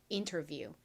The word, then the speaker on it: interview: IE의 E 소리와 W의 우 소리가 빠르게 연결되면 이우 이우 이우 이우 유유 유처럼 발음이 난다고 말씀드렸습니다. 그래서 이 단어는 interview입니다. interview.